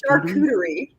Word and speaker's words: charcuterie: It's charcuterie. Charcuterie? Yes. Charcuterie? There's a sneaky R.